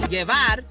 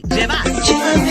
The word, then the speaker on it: llevar: Sometimes you'll say llevar. Same exact word spelled the same exact way, and we're just using the sound interchangeably because Y and J have a very close relationship like that.